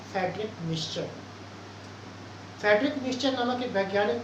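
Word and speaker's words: Miescher: इनको कहीं कहीं मिसर भी लिखा होता है, लेकिन मिक्सचर उसका उच्चारण है, जिन्होंने 1871 में न्यूक्लिक अम्ल की खोज की थी।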